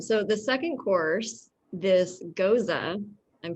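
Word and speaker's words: Gose: really good um so the second course this goza i'm pronouncing it correctly right i just learned it's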